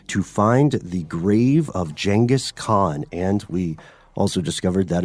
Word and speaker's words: Genghis Khan: likely doomed quest to find the grave of jangus Khan and we also discovered that is the correct pronunciation yes genas Khan is now jangus Khan like like janga like